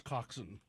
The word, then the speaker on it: coxswain: tell us yeah it's it's spelled like Swain but it's coxson right yep okay anything